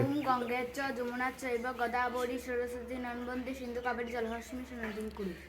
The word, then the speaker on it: সরস্বতী: ও উচ্চারণ করতে হবে না? এই আওয়াজ করি না তোমরা। সরস্বতী, তাই না?